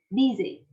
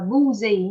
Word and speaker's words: busy: câu D như vậy, chỉ này mình đọc là busy, âm y như vậy. Âm y. Rồi, busy. Chứ không là boozy nha. Thỉnh thoảng cô cũng có nghe sinh viên đọc boozy.